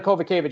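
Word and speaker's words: Kowalkiewicz: Karolina Kovacevic is how you pronounce it, not whatever you said.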